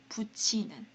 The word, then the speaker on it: 붙이는: 먼저 이건데요 여기 보시면은 이렇게 티읕 받침이랑 2가 있을 때는요 티라고 읽으시면 안 돼요 어떻게 읽으시냐면 치라고 읽어주세요 이건 이제 규칙인데요 치라고 있습니다 그래서 붙이는이라고 읽어 주세요 다시 붙이는 붙이는 자 두 번째는 4페이지에